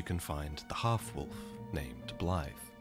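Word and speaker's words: Blaidd: Okay, can I just very quickly say, Blythe? I always said Blade. I did not know you pronounced it Blythe.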